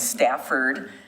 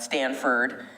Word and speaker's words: Stafford: The family's last name is Stafford, not Stanford, but it's the Stafford family, and I do know the history of that being donated to us as a city.